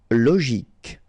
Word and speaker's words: logique: Logique, remember, Q-U-E at the end, K, logique.